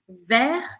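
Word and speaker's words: vert: existem a primeira delas é o ver ver tem que ficar feliz para pronunciar essa ver que é verde a gente não fala o t Então você vai abrir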